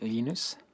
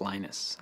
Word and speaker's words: Linus: i speak swedish it's heinous when speak Finnish it's Lino's when I speak English its Linus and I really don't